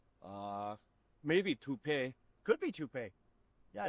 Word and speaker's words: Taupe: Uh maybe toup pay. Could be toupe. Yeah, I don't know. Or taupe insurance maybe. I don't think so. Say it right. That's t o p. That's taupe.